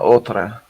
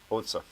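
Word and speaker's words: отца: No, it's not Otra. The last one is OT. Crap. The third letter is a TS sound, and the last one's an A. I said it wrong. Otsa.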